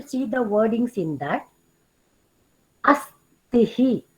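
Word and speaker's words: अस्थि: Astihi. So here Mahaprana Tha is there.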